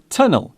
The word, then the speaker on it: tunnel: The word tunnel is still pronounced with the hard T sound.